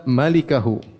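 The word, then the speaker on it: مالكه: Ternyata bacanya yang benar illa malikahu.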